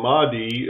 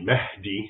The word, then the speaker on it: Mahdi: Islamic expert Raymond ibraim so the Mii as as an English speaker would pronounce it it's really Mahi which basically means guided so